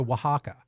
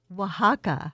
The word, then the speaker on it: Oaxaca: Because it does not get pronounced the way it is spelled at all.